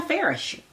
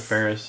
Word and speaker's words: Faris: I listened to Anna Faris. Anna Faris. Ferris. I pronounce it Ferris.